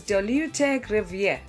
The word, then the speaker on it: dolutegravir: We can pronounce dolutegravir as dolutegravir.